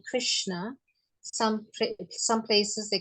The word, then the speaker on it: Krishna: they call Krishna Krishna some places they call Krishna like especially in um jagat Puri they don't say Krishna they say Kish Krishna Krishna like that so uh so different places they pronounce the lord's names differently like that okay thank you Ma